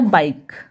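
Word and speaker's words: bike: क, तो हो गया बाइक, ठीक है। क्या हुआ ये बाइक, और ये ई साइलेंट रहेगा, ठीक है।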